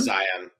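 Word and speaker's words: A'zion: I can't pronounce that last name. Aon Zion.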